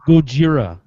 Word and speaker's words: Gojira: wanted to go see captain america sam you're pronouncing that wrong it's uh godzilla it's a gojira i'm kind of excited for it like before